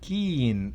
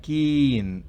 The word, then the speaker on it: keen: Y la tercera, 4.3, es keen. Ahí sí es larga, keen. Extiendo más allá de lo natural para que ustedes lo noten.